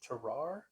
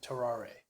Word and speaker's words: Tarrare: fella named um there there's two pronunciations here there's terar and terar you ever heard of